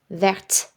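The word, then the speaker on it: verte: Vert, in the masculine form, our final consonant T is silent, vert. When we add the E, vert, that T gets pronounced.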